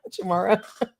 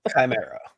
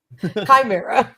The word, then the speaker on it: Chimera: Did I keep mis pronouncing the name? Chamara. Chimera. Chimera.